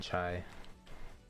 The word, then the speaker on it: CIA: say his name, like his actual name is spelled CIA. But basically he used to go by like his Discord name would be like Chai, as in the chai tea, is on how you pronounce it.